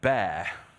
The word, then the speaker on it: Bare: Then bear. Yes, we have PEAR and we have bear. The logo for bear is a bear, but it's not spelt that way. It's spelt in terms of bare metal.